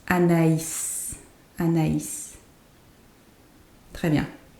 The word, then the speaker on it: Anaïs: So if, let's say there was no I tréma, it was just a regular I, it would be pronounced Anès. Anès, because the A and I would be the sound E. But because there is a tréma, it becomes Anaïs.